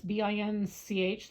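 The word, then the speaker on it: Binche: Okay, everybody, this is a bench. That's BINCH. That's kind of how they pronounce it.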